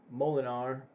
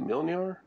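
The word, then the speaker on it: Mjölnir: So you take away Thor's hammer, Molinar, or how do we say? I said it wrong. Isn't it Mjolnir? God, I said it right earlier. Now I can't even think how to say it. It's Mjolnir, isn't it?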